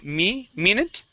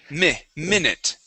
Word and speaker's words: minute: So, instead of saying me minute, okay, using a Spanish I, we're going to use a short I sound. Mi minute.